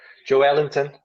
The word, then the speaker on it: Joelinton: Joelinton, as they say in Brazil.